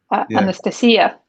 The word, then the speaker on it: Anastasia: I got to say it like the Billy Joel song. Yeah. Anastasia.